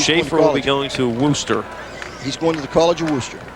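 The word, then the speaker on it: Wooster: The proper pronunciation is Worcester.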